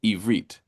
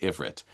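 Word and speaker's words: עברית: think, is that a short I vowel, ivrit, or is it a long I vowel, ivrit? It happens to be only the latter, but many people, because they only see it written that way, pronounce it ivrit, and they're wrong.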